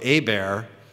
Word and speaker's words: Hebert: is Louisiana French and a bear is pronounce where the H is silent and the E's pronounced like an A and the ERT is like Stephen Colbert you know looks like Kolbert so a bear is